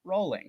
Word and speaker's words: Rowling: Despite how it's spelled, it's pronounced Rowling. Rowling.